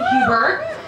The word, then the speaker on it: Huber: not change my name I'm keeping Hubert because why would I want to change the name that already rhymes with goober or or uber or Hans Gruber this is the season